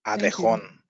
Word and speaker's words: Abejón: The J is like an H, so it's like an Abejón.